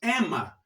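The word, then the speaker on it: אמא: Eu tenho aqui, olha, esse vocábulo em hebraico, e esse vocábulo em hebraico, na pronúncia, se diz Ema.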